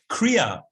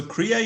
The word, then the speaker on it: Kriya: Kriya, the word, it has two syllables, Kri and Ya.